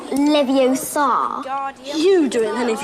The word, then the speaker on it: Leviosa: It's Leviosa, not Leviosa. You do it then if you're so clever. Go on. Wingardium Leviosa. Wingardium Leviosa. Oh, well done! See here, everyone. Miss Granger's done it. Splendid. Wingardium Leviosa.